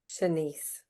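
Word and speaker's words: Shanese: Shanice.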